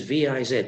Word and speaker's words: viz: Vide licet, usually written as V-I-Z, means already seen. We've already seen this before in the contract. Viz, vide licet. Well, at least I think that's how they're pronounced, because nobody really knows.